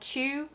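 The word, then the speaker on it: Chu: There is a follow-up series called Chew, which is spelled C-H-U, which is how Tony's last name is actually spelled.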